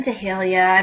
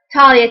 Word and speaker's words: Tahlia: So I'll write Talia, T-A-H-L-I-A, and then in parentheses, T-A-L-L dash Y-A, parentheses. I thought the H would have been sufficient.